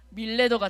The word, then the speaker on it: 밀레도: 우리 친구들 도레미파솔라시도 알죠네 도레미를 거꾸로 하면 뭐죠 미래도 근데 그 발음을 좀 세게 하면 뭐가 될까요 밀레도가 됩니다네 이렇게 외워주시면 돼요 밀레도라는 지역으로 가게 됐어요